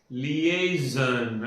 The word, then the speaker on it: liaison: L I A L I A first sound for lia and A Y has a second sound and zon is the third sound. So, it has got three syllables.